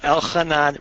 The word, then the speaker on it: Elchanan: make first of all I pronounce my name Kanan of gila logic but